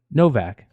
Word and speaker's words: Novak: BJ Novak says, you actually pronounced it right. Novak.